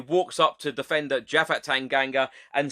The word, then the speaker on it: Tanganga: hotspur way he walks up to defender jaffa tanganga and says to him how do i say your name correctly tanganga then replies tanganga and then mourinho says i hate to tell